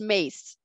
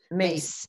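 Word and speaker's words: Myss: your experience of carolyn mace it's pronounced mace mace okay well and have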